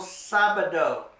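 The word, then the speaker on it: sábado: the A and that tells you you put the accent on the a that's El sabado El sabado it means Saturday and you make the first syllable sound a little stronger because it has that accent mark on it El sabado and our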